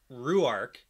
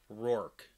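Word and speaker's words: Rhuarc: we all pronounce it rurik and i say we all but like i pronounce it ruark in the audiobooks like it's pronounced rurik but in the glossary definition it's pronounced as one syllable rork yeah okay and i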